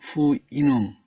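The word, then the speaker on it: Houyhnhnm: 후이님은 후이눔 또는 피눔이라고도 발음합니다.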